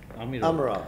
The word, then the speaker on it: Amirov: How do you pronounce his name, Sungulu? I said him Amirov. Amirov, his last name.